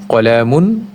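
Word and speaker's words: قَلَمٌ: যেমন কিতাবুন আমরা সেক্ষেত্রে উচ্চারণ করব কিতাব, কলামুন কলাম, বাইতুন বাইত।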